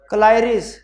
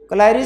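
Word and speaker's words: colliery: transport of gold from क्लारी कलारी क्या होता है कोलरी क्या उसको प्रोनाउंस करते हैं कोलरी कोलरी क्या होती है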